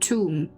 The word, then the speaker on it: Thumb: Thumb. Pronounced tomb.